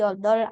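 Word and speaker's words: 여덟: Jadi bukan dibaca yodol pakai B enggak, tapi yodol aja. Yodol. Oke, yodol. B-nya abaikan.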